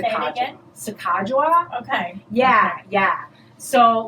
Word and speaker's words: Sacagawea: But then Sacagawea is on the dollar coin now, and that's a different color.